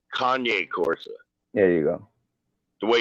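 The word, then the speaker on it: Cane Corso: Eddie because Eddie was telling us you're pronouncing uh it's not Kane Corsa. It's Kanye Corsa.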